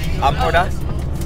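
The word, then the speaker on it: Empordà: It's pronounced Lomporda.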